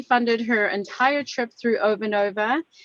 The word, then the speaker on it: Ovanova: um so thank you over nova is that how you say it yeah exactly over nova okay perfect for the